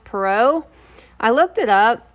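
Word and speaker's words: Perrault: tales by Charles I think it's called is pronounced perau I looked it up how I pronounced it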